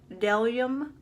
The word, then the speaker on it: Bdellium: They are Bdellium tools, but the B is silent, so it is Bdellium tools.